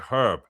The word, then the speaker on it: herb: There's the H is there for a reason. It's a herb.